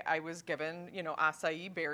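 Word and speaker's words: açaí: Oh, acai. Is it really acai?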